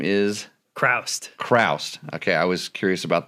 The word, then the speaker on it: Chroust: with Gabe and your last name is Christ Christ okay I was curious about the pronunciation of that so Gabe you might know